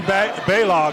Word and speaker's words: Balog: Stacy Baylog is actually the pronunciation there.